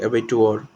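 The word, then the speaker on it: abattoir: A place where animals are slaughter for consumption as food जो है एबिटोर इसको हम लोग एबिटोर वॉर के जैसा प्रोनाउंस करेंगे.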